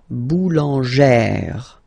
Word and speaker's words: boulangère: Remember, when you've got this e plus this accent grave, you pronounce it like eh, really open eh sound. Okay, so boulanger, boulanger, and then feminine form, boulangère, boulangère.